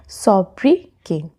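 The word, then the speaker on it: sobriquet: हमारा अगला वर्ड है सोबके सोबके अच्छा यहां पे क्यू यू ई टी है बट यहां पे टी साइलेंट होता है तो इसे हम प्रोनाउंस करेंगे सोब्री के यह नाउन है और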